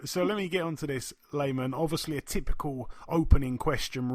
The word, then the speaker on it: Lamon: It's pronounced Layman. Layman. I think it's something to do with the. I think it's something to do with the accent. But it does sound like Lamon though, so it doesn't bother me at all.